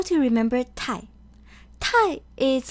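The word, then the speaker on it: 太太: The second Tai is pronounced lightly. It doesn't take on the full tone as the first Tai. So the pinyin is written as Tai, Tai.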